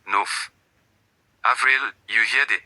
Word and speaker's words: neuf: Neuf, you hear the F, neuf.